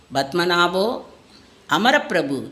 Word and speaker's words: பத்மநாபோ அமரப்பிரபு: என்பதை உணர்ந்து அவரை கூப்பிட்டு, நீங்கள் சொல்வது தவறு, உண்மையில் பத்மநாபோ அமரப்பிரபு என்றுதான் சொல்ல வேண்டும் என்று விளக்கம் அளித்தார்.